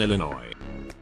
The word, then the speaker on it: Illinois: She also pronounced the S in Illinois.